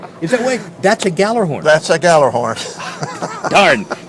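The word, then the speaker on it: Gjallarhorn: And I understand from my Scrabble games at home, it's spelled G-J, J-G, G-J. G-J. Horn. G-J or horn. That's the Nordic influence.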